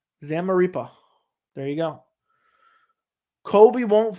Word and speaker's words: Zamaripa: It's pronounced Zamaripa. Zamaripa.